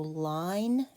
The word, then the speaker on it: line: And there's the silent E. That's what makes the I long. So line and then graph.